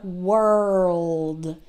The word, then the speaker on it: world: say it normally so try to say it like whirl the notice how I draw out the R and the L and then you try to make it a little shorter world world world world okay